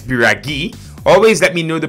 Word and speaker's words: Biraghi: bring an igor custom biraghi not shout out to abhishek bista who let me know in the comments that it's biragi always let me know